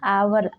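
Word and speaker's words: hour: पहले होता है जैसे एन आवर आवर शब्द की शुरुआत कंसोनेंट लेटर एच से शुरू हुआ है जो कि एच यहां साइलेंट है आवर का उच्चारण करने पर बवेल साउंड आ से शुरू हुआ है इसलिए आवर के आगे एन का प्रयोग हुआ है एन ऑनेस्ट ऑनेस्ट वर्ड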